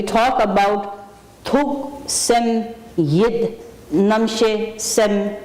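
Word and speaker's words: rnam shes: And then another word, Namshe. Transliteration, R-N-A-M-S-H-E-S. It's pronounced N-A-M-S-H-E-Y, Namshe.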